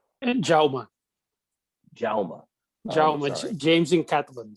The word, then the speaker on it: Jaume: Jaume. Jaume. Jaume, James in Catalan. So what was the last? Sorry? It's James in Catalan, so it's pronounced Jaume.